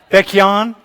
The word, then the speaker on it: Baekhyun: Hey, how do you pronounce his name, by the way? Baekhyun?